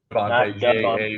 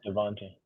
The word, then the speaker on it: Javonte: Javonte, not like Devonte. Javonte.